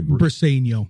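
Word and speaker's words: Briceño: Um, McGonagal, Max Clark, and how do you say Brineno?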